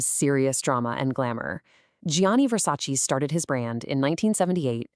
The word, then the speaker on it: Versace: Okay, so a lot of us say Versace, but remember that Italian che ending? It's a che sound. So that gives us 3 clear syllables. Versace. Let's say it together. Versace.